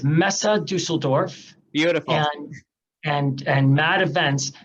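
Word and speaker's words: Messe Düsseldorf: events solely in detroit this pronounce that name pronounce that name one more time for me sure it's mesa dusseldorf beautiful and and mad events and this group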